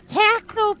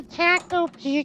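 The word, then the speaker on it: takt op.: It's Tacto. I guess they're making a Tacto P gacha, and it's Actually- those are after musical pieces, and I will admit it has me interested.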